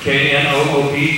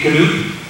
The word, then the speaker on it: knoop: Or the Dutch word for button is, I guess it's pronounced in Dutch, knoop, K-N-O-O-P, knoop.